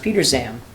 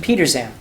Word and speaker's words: Petersham: Well, that's actually I guess that's kind of in keeping because Petersham is pronounced Peter Zam by the people who live out there. The Z Peter Peter Zam.